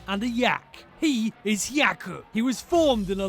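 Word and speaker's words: 百: Japanese for 100 is yaku the he of Hyaku sounds like the word he the yak of yaku sounds like the word yak something huge is emerging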